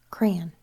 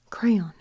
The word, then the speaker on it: crayon: so bring this one I always said it wrong until I had enough of my partner teasing me because for some reason I picked up crayon crayon almost like an A and sound at the end crayon so I have